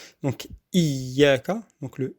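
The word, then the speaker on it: إِيَّاكَ: On dit iyyaka na'budu parce que c'est plus facile. Et dire iyyaka na'budu wa iyyaka nasta'in. Il faut faire l'effort de bien prononcer le ya mushaddada. Donc iyyaka, donc le i, c'est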